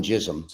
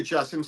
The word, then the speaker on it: Jasim: Because I call him Jism, and I'm sure that's not how you pronounce it. I say Jasim.